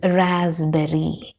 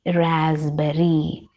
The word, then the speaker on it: raspberry: now let's look into the commonly mispronounced words raspberry raspberry it is written like this but p is island there it is raspberry raspberry who men we write it as men but